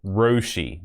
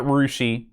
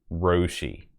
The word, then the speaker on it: Roshi: It's ROW-SHE. That's how we should be pronouncing it. So, Roshi. Not Rushi, not Roushi. Roshi.